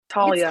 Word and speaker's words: Thalia: Now, let me catch your pronunciation. Is it Thalia, Thalia? Talia.